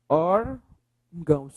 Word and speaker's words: órgãos: Órgãos. Qual é a sílaba mais forte?